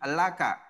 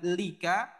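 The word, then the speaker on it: لَكَ: dengan kamu laki-laki ataupun Anta maka menjadi laka bukan Lika namun menjadi laka karena Lika ini sangat berat diucapkan susah diucapkan makanya dia menggunakan kata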